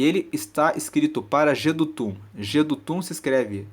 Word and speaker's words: Jedutum: está escrito assim ao mestre de canto para jedutum Salmo de Davi Então esse título nos fala